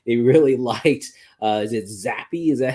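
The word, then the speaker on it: Zappe: The owner said that they really liked, is it Zappy? Is that how you pronounce his name?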